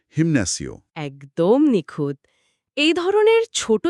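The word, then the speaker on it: gimnasio: অন্যদিকে জিমনাসিও স্পেলিংটা আসলে জিআই দিয়ে শুরু। তো জি এর ঠিক পরেই আই রয়েছে। লাল সিগনালের নিয়ম অনুযায়ী এখানে শক্ত গ) গিয়ার শিফট করে নরম হওয়া হয়ে যাবে। অর্থাৎ উচ্চারণ হবে হিম্যাসিও।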